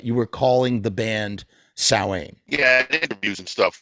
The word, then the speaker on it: Samhain: name is actually pronounced Samhain, which is like the Celtic original way of saying things, when in fact every member of Samhain calls the band Samhain.